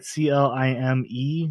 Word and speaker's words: Climb: I mean, the B is silent. I'm just being an ass, but yes. Oh, okay. So I say it like Clime. Would that work? Climb? Yeah, like you're climbing something.